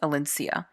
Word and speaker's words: Alencia: VoiceOver will pronounce it differently, but I believe it's pronounced Alencia. Where she learns, well, she